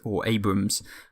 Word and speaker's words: Abrams: Abrams, I should say. Someone noted that the second A you don't pronunciate or something like that.